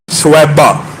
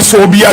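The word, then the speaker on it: ثویبہ: سویبہ، جس کو بعض اردو دان کم علمی کہہ لیجئے یا عربی تلفظ سے ناآشنائی کہہ لیجئے صوبیہ کہتے ہیں۔ صوبیہ اور سویبہ میں زمین آسمان کا فرق ہے۔ ان کا اصل نام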